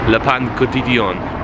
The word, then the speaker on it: Le Pain Quotidien: I'll tell you what was quite nice about breakfast is we went to a place called how is it pronounced, Mum? Le Pain Quotidien, or PQs for short.